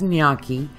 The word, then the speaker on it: gnocchi: going to make nyaki yes you've probably heard it pronounced differently as have I but it's nyaki and I'm going to